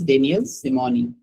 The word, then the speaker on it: Daniel Simeoni: The pronunciation is Daniel Simoni.